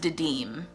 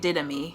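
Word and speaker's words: Didyme: who murdered didn't me the internet says it's pronounced dedem i've been pronouncing it didymy which sounds like it belongs in a dirty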